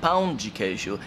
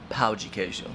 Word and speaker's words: pão de queijo: mom Brazil and being adamant about her pronunciation of the word pão de queijo and not pau de queijo.